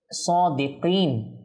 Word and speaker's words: صادقين: আমরা অনেকেই সাদিকিন এটা পড়ার সময় কফকে কাপ পড়ি, সাদিকিন সাদিকিন। দেখুন এই কফকে কফের মতো উচ্চারণ করার চেষ্টা করব, সাদিকিন।